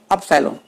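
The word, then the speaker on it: upsilon: Pronunciation में देखिए अंतर है, एप्सिलॉन, यह है अपसाइलॉन।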